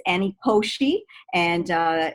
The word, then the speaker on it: Koshy: wanted to say thank you and i will pronounce my last name just so that everyone can hear it uh it's annie koshy and uh it's k-o-s-h-y uh i wanna say